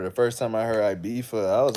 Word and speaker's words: Ibiza: So in Spain, there's a place called Ibiza, right? It's a ZA. But because the Spanish pronounce the Z as a TH, the British that vacation there all the time, they say, I'm going to Ibiza.